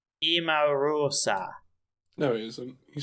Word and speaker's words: Emarosa: music word by word oh it's a pronunciation it's emorosa no he isn't you